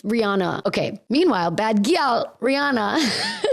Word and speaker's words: Rihanna: Is it Rihanna? I've been saying Raina.